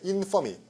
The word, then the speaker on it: infamy: infamy. Y가 돼서 infamy. 액센트 앞으로 갑니다.